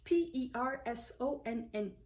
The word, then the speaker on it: personne: In French, P-E-R-S-O-N-N-E, and it's pronounced personne.